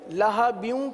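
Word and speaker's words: لَهَبٍ: لہبیوں کی ہجے سیکھیے. لام زبر لا، ہا زبر ہا، لہا. با واو دو زیر، بیوں بیوں. کیا پڑھیں گے؟ لہبیوں لہبیوں. تبت یدا ابی لہبیوں.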